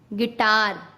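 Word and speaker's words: guitar: जब यू के बाद कोई वॉवल्स हो तब यू साइलेंट होता है। वॉवल्स क्या? AEIOU। अगर ये यू के साथ आते हैं तो यू साइलेंट हो जाता है। जैसे गाइल, गिल्ड, गिटार।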